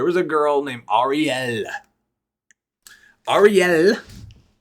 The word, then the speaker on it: Arielle: I'm saying it like that because if you pronounced it or Ariel, she would correct you, because it has two L's and it's Ariel. Like it's almost like an acronym, like REL. But no, it's ARIELLE.